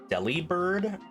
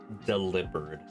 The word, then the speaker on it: Delibird: Do you pronounce this Delibird or Delivered? I think it's supposed to be delivered, like, oh, you delivered a gift, but I don't think it's actually pronounced like that in any Pokemon media. So who knows? It's probably Delibird, because Santa Claus likes making sandwiches.